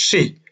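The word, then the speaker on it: 四: and suffering Japanese language the number 4 is pronounced Shi which is the same way the word of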